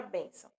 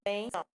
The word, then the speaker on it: bênção: Sílaba tônica, mão, não é? Porém, quando a palavra, no caso aí a palavra bênção, já vem acentuada, né?